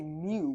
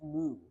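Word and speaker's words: μ: we conditioned into say me when it's actually pronounced moo like a Cowal why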